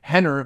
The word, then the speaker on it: Rener: can't even call him Henner with an R pronounced with an H you couldn't even do